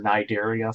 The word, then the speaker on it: Cnidaria: So you'll remember Cnidaria, phylum Cnidaria, the jellyfish and all of those guys. It is C-N, but we only pronounce the N.